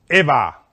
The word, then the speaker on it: Eva: Eva is how you say it in Spanish.